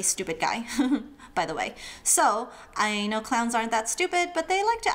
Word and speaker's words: ㄙ: Then there's s as in snake without the nake. S.